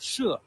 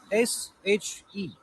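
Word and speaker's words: 歙: Actually, She is Chinese pinyin, and it's spelled as SHE. But in this case, we don't pronounce it she. We, we pronounce it She in Chinese pinyin.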